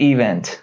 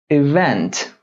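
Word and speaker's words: event: میزارم که یعنی تلفظ استرس روی سیلاب اونت روی سیلاب دوم بیارید نگید اونت نه اونت است سلاب دوم الان دیه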